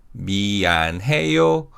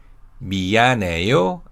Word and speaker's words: 미안해: And as you could hear, the 히읗 sound after an is silent, as 니은 받침 in an carries over. So they are pronounced 미안해, 미안해요, and 미안합니다. Now, when we say I'm